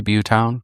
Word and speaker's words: Butetown: pronounce some things, like in some places they say Butetown or they say Butetown. So we're just going to say Butetown because that's what it told me to say.